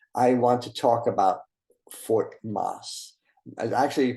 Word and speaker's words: Fort Mose: history and today I want to talk about four Moss I actually pronounced Fort masi I'm going to show you a picture of